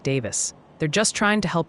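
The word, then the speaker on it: Daviess: County, where Owensboro is, is pronounced like Davis. They're just trying to help you sound like a local, y'all. Okay. All right. I I think I'll remember that. Uh, it's Davis, not Davies or nothing like that.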